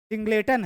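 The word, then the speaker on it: singleton: सिंगलेटन है। सिंगलेटन लिखते हैं लेकिन पढ़ते सिंगलटन ही है।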